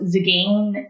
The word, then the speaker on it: Tzigane: And so Zigane, but the Zigane is like, it's got a silent T in the front. So it's spelled Tzigane. And it's super complicated. So it's like, if you take the T out of it, that's, it's spelled like it sounds.